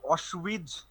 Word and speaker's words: Auschwitz: আচ্ছা, প্রথমটা উচ্চারণ হচ্ছে ডাখাও, শুনেছো? ডাখাও, অসউইচ, বেলসন।